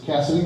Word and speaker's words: Cassidy: It's Cassidy, not Candace.